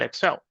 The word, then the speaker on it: Excel: Now the person wasn't paying attention and said Excel. You know, Excel rhymes with sell.